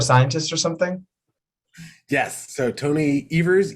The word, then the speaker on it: Evers: or something yes so tony evers eevers rhymes with believers and tony evers you